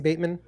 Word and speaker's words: Bateman: It's Bateman, by the way.